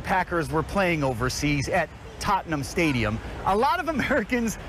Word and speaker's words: Tottenham: the Giants and Packers were playing overseas at Tottenham Stadium a lot of Americans mispronounced Tottenham Stadium right Tottenham is Right Tottenham